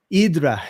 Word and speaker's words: Hydra: of parara something to the island of idra which is spelled Hydra and being a comic